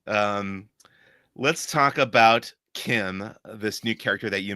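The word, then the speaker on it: Kh'ym: know her species name but her name is pronounced Kim like K IIM and spelled in a very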